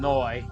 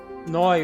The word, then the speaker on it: Neu: Noi is spelled N-E-U. It's German for new.